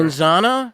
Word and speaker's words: manzana: pronouncing it correctly Manana monsana yeah you don't go like you're doing the you're doing like the Z and we don't they don't necessarily Z as much as us it's almost a